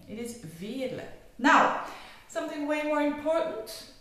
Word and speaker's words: Veerle: pronounce my name well the French they say ver and The American or English or Australian they say ver but in fact it's V so it's a typical flamish name it is V now something way more